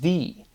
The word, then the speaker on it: thy: is directly immediately pronounced thee, right? The end of wealthy and healthy is THY. And it's that exact syllability removed. Right? Thy is not thy, it is thee.